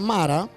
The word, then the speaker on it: Mara: María viene de la expresión hebrea que se pronuncia Mara.